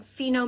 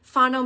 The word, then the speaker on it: Fino: I have such a hard time saying Fino mini set. I want to say Fano mini set. Fano Mino? I just want to say it wrong.